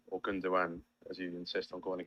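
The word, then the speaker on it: Gündoğan: I see you haven't gone for Gundogan or Gundogan, as you insist on calling him. Well, I insist on calling him that because that's the correct way to pronounce it.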